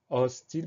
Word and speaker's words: hostile: Alors attention, le mot hostile, il commence par un H qui est évidemment muet. Donc hostile, première syllabe os, H, O, S. Le son O s'obtient avec un O. Deuxième syllabe ti, TI. Dernière syllabe le, LE. La seule difficulté, c'est ce H muet auquel il faut absolument penser.